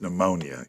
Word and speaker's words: pneumonia: In Maine, it's pneumonia. Yeah, that's a tricky word. I don't even know where the silent P originated, but whoever did that was an asshole. Yeah. There should be no silent P's in the world.